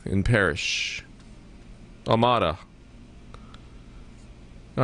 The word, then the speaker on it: Amada: All right, let's go to Amanda in Parrish. Amada.